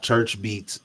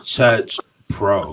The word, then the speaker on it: Chuch Pro: h p r o there is no R in there it's not Church beats it's Church Pro it's chur Pro there we go reason